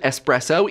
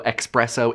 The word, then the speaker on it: espresso: and by the way the official pronunciation is espresso even though expresso is popular and high don't let